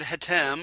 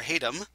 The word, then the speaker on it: Hatem: 13th 2019 written by richard hatem or hatem depending on how you want to pronounce it uh who wrote the